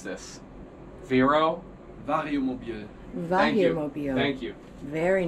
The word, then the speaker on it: Vario Mobil: How do you pronounce this? Vario. Vario Mobil.